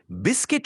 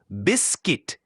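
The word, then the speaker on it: biscuit: বিস্কিট শব্দটার সঠিক উচ্চারণ হলো বিস্কিট। এটা ২ ভাগে ভাঙলে বিস আর কিট।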